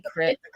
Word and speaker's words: creek: it Creek a creek creek oh down here it's Creek girlfriend well that's how it's spelled Creek we say criek anyone else say cck